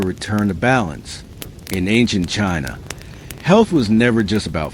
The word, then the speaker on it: qi: In ancient China, health was never just about flesh and bone. It was about energy. The invisible vital force called qi, pronounced chi, flowed through every living being.